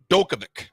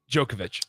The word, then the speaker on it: Djokovic: 2018 Wimbleton men's tents champ Novak Dovic. Oh, close. Novak Dovich. Djokovic. Djokovic. Now you pronounce the D with a J.